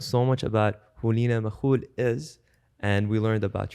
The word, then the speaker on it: Makoul: And you can find me, my main communication tool is IG, handle Lina with an I, Makoul, Makoul, because most people can't pronounce the kha.